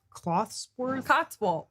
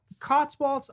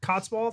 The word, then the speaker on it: Cotswolds: It's like Clothsworth? Cotswolds. I want to live there, damn it. I think that's how you say it.